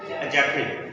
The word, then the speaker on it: adjective: एडजेक्टिव। कि डी को दरम्यान से साइलेंट कर देना, पीछे क्या बचेगा?